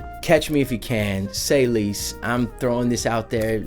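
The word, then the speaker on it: C'est Lise: by the name of say leise like French like c'est la vie so say C apostrophe est and then L is pronounced Lise say Lise her name is ELISA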